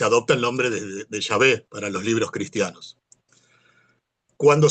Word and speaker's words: Yahvé: viene del yo soy, se dedujo que la pronunciación eh más cercana era esta de Yahvé o Yahvé.